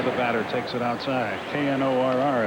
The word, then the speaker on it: Knorr: Knorr is how he pronounces it.